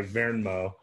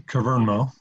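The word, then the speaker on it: Kvernmo: You can say all the letters, it's Kavernmo. Oh, the K is pronounced, okay.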